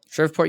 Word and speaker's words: Shreveport: She's training in I'm going to mispronounce it. Shreveport, Louisiana. Shreveport.